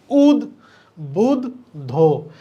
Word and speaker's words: উদ্বুদ্ধ: হস্ থাকবে এইটা যেটা আছে এটা আমরা জানি উদ বুদ ধো তা এখানে দ এখানে দ শেষে ধ এটা হবে উচ্চারণ তাহলে উচ্চারণ থেকে প্রশ্ন হয়েছে অবশ্যই উচ্চারণ